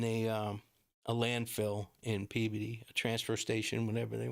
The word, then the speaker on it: Peabody: in a landfill in uh Peabody now when you guys see it on TV you probably pronounce it Peabody because it's p-e-a-b-o-d-y but it's to us as